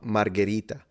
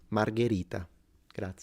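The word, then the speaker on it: Margherita: how to pronounce it they call it Margarita that's a drink and it's this like this pizza expert and you can't even pronounce it I don't know if you I'm going to trust you you know it's not Margarita that's the pizza margarita gra so yeah and then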